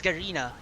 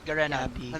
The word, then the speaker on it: Garena: Also guys, the pronunciation pala is is Garina not Garena. Garina.